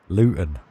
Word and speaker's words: Luton: um yeah water um Luton luten that's how you that's how you're supposed to say it if you're from Luton